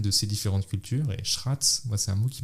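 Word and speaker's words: srác: Et donc je sais pas le prononcer, il est un peu compliqué, il faut dire Schratz. Schratz, on pourrait dire sans rouler le R.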